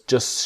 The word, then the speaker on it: just: and things just shouldn't be. So the T in just is silent and the T in shouldn't silent. Things just shouldn't be so complicated.